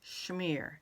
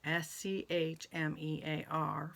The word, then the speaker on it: Czmyr: name is Ukrainian, and it's spelled Czmyr, and it's pronounced Schmear, Schmear, for those of you that have been wondering.